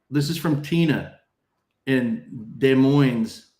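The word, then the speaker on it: Des Moines: is from Tina and De Moines's the the S is silent according to the locals.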